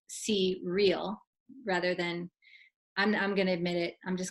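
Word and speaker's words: Crel: cue for a relationship re L is for relationship that's why it's pronounced C real rather than I'm gonna admit it I'm just gonna say it I called it Krell and so it's okay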